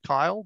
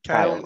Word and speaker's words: Kale: and darian yeah um so i pronounce it in my head kyle but kale is completely fine um most of the